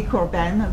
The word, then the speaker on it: Corben: Because you put the accent on the second syllable. Corben. Most people put it on. No, it's fine. I like it. So how do you say it? Corbin. You just it's just with it.